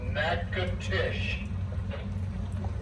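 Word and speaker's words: Natchitoches: City and there we will turn right towards nacatish n es yes NAA I know how to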